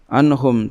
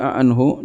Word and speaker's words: anhum: Dan dibacakan sebagai "anhu," dengan beberapa orang membacanya sebagai "anhu" dan bukan "anhum"—ada bacaan lain, tetapi lemah. Ini adalah bacaan yang tidak teratur, bacaan "shadh" .